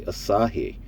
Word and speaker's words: Asahi: That's right, I said it correctly, Asahi. I've been practicing all damn day. I've been saying it wrong all my life, so I'm going to fix that today.